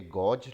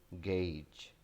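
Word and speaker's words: gauge: पढ़ने में ये गॉज लगता है, लेकिन in fact this is गेज. गेज.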